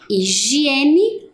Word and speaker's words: higiene: temos a palavra higiene Olha o h no início da palavra lembram que ele não tem som então aonde que ele vai em qual lugar da tabela na pronúncia como na palavra homem higiene homem e a última